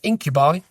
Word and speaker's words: Incubi: Uh and then when you look at plays for hire, you're looking at Incubi or Incub, however want people want to pronounce it, who are one of,